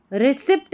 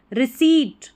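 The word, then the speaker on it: receipt: एंड a famous, रिसिप्ट नहीं पढ़ना है, ठीक है, इसको भी रिसिप्ट नहीं, यहाँ पर P साइलेंट रहता है, इसका सही उच्चारण रिसीट।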